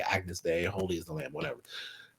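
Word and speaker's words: Agnus Dei: And then we did this production arrangement of Agnes Day, which apparently is how you say Agnes Day, Holy is the Lamb, whatever.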